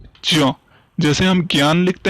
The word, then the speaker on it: ज्ञान: इसका उच्चारण ध्यान करेंगे हम, इसका उच्चारण ज्ञा नहीं, अर्थात क्या पढ़ते हैं? ज्यों, क्योंकि ये ज्या और यहां से बना हुआ है, इसीलिए इसका उच्चारण कैसे करेंगे हम? ज्या, ज्ञान।